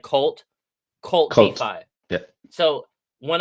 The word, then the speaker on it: KVLT: It's YouTube, and that's KVLT, but it's pronounced like Cult Cult.